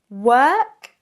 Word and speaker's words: work: Work and walk. Work and walk. Now, both of these sounds are long. There's not a short and a long, but two long sounds, which might make this a little bit harder.